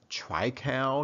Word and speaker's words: triticale: of this before or maybe you pronounce it by a different name right I mean I've heard Tripta cow as I just enunciated it but then other people may call it try cow some people may call it triptych alley